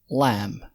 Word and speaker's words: lamb: اسمه بالإنجليزي lamb، البي ما منطقهاش، واللحمة بتاعته برضو اسمها lamb.